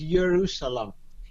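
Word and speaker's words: ירושלים: Jerusalem in modern Hebrew, people how you want to pronounce it because they created the pronunciation only recently is Yerushalayim.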